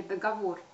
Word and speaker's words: договор: такое ударение на безграмотно следует говорить договор и во множественном числе ударение также остается на третьем слоге договоры форма договора она